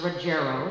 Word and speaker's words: Ruggiero: It's actually pronounced Ruggiero, thank you.